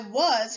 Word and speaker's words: was: as in the word was when reading was we pronounce the a as uh and the s as z when writing was remember